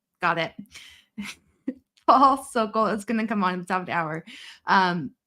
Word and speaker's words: Sokol: Rhymes with vocal. So Sokol. Got it. Paul Sokol is going to come on at the top of the hour.